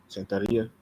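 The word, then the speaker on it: Santería: Santeria.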